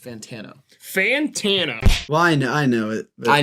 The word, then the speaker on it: Fantano: It's pronounced Fantano.